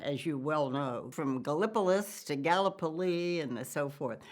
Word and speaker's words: Gallipolis: pronounce this town's name gallipolis gallup police gala police well you can pronounce it gala police or you can call it galapalys i say galplus police i usually say